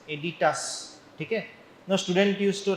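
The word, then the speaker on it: aditus: now don't uh spell it as or don't pronounce it as edidas it is not edidas it is editas a d i t u s editas okay no student used to write edidas I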